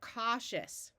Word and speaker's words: cautious: so we split here Au says a both of these suffixes are pronounced shus you could see my video about Latin suffixes for more practice with those as well so we have the word cautious right here we want